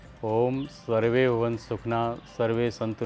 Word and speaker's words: ओम: हम ब्राहरी के बाद जो है अब हम ओम का उच्चारण करेंगे। ओम जो है वह आ, ओ और म तीन चीजों से मिलकर बना है। तो तीनों पर ही हमको बराबर फोकस करना है।